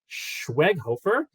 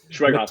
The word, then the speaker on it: Schweighöfer: well as the film's director and star, Matthias Schweighöfer. When you said I pronounced it well the other time, now it just got in my head, and I was like, I really have to do it again. Schweighöfer.